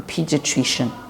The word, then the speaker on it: pediatrician: what they call a pediatrician Pediatric is attrition it's a four syllabus word a pediatrician okay someone that has